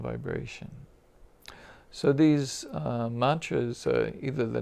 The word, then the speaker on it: mantra: So kirtan is the chanting of transcendental sound vibrations or mantras. Mantra is a Sanskrit word, 2 syllables, man and tra.